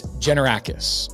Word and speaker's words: Tzenevrakis: If you read this, the spelling of this thing, it's Tzenevrakis. It's Tzenevrakis.